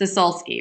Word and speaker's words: Sosulski: last name so then you learn how to pronounce it I know it's harder it's a solski right if I want to change that to